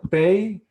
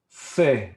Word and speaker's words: Pe: And letter Pei, which can be also Fe like F or Pe like P or PH.